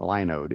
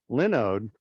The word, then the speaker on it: Linode: it's it's it's not linode it's linode as in linux i was corrected is